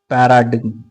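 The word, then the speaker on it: paradigm: five one third word पैराडिम पैरा डिम पैराडिम पढ़ते हैं डी आई जी एम है बट ji silent पैराडिम okay पैराडिम अच्छा word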